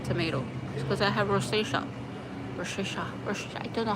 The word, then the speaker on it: rosacea: Roisha ro I don't know how to say it proper. It's rosacea and yeah so I look like a tomato